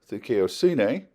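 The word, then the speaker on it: δικαιοσύνη: And its cousin is thikaiosine, which is righteousness.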